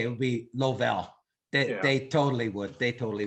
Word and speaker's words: Lovell: name and i'm thinking it's french so uh lovell okay see if if you were in canada that that's what they would say it would be lovell they totally would they totally would but so